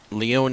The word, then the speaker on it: Leone: I am indeed sorry I keep mispronouncing that name Leone is the correct is the correct pronunciation as you have stated